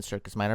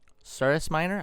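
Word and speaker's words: Cirrus Minor: the circus minor oh actually it's not even circus minor I've been pronouncing it wrong it's surus Miner I'm I'm assuming that has to do with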